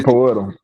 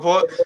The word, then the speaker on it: Poeltl: Jacob Poeltl. Jacob Poeltl, like that.